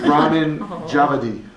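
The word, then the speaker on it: Ramin Djawadi: It's I wrote it down in what's it called when you write it out to spell it? Like you, Phonetics? yeah, that. Yeah. Ramen Javadi.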